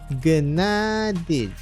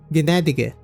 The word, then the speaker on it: Gnädige: How to pronounce it in German. Gnädige. Gnädige? Okay, fine.